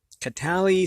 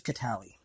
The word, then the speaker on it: Catali: Catali Stone Tusk. Or Catal? Cato, that's an I. That's an I. So it's Catali.